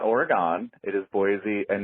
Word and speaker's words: Boise: And he was saying it's Boise, not Boisey.